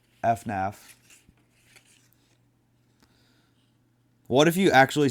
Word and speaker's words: FNAF: It doesn't say FNAF like some crazy people do. VENUS says. FANF. It's FNAF.